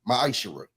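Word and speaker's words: מעשר: You can find this in the book of numbers 18 21 in the book of Malachi 3 8-10 means 10th in Hebrew and it's pronounced maisher.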